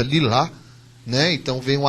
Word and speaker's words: Lilah: pronunciar o mais correto o h no final ele vem porque ele tem a pronúncia lilá né Então vem um